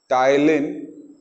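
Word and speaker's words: ptyalin: और उस एंजाइम को हम बोलते हैं टाइलिन। इसमें पी साइलेंट है।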